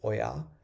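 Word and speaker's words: ඔයා: So you have to stress the yah of oya.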